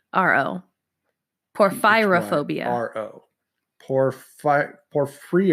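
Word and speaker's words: porphyrophobia: your first phobia is poor fyra phobia spell that for me p o r ph y ro phobia poor pyrrha phobia and your hint is ph y so it's poor fyra phobia poor fyra phobia sorry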